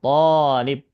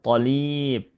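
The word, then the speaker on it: طالب: Nah, kalau seperti ini bacanya atau seperti ini harakatnya, cukup kita panjangkan to-nya, tolib, tolib. Saat awal-awal belajar dulu ada yang baca tolib, gitu. Sama seperti tobib, enggak ya. Tolib, to-nya yang dipanjangkan dan itu satu siswa.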